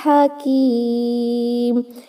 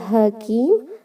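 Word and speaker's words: حكيم: In this word there is a ha which is hu, which is pronounced from the last part of your throat.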